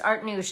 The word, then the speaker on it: Artnoush: It's Art Noosh, and it's spelled Artnoush.